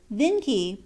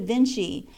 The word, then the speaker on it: Vinci: own tongue he says they spell the name of their great painter Vinci but pronounce it Vinci and then adds with